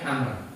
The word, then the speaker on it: Amr: Kalau Amr itu apa itu ada wawunya ini, bacanya Amr. Jadi kalau Amr bin As itu ada wawunya. Kalau Umar itu tanpa wawu.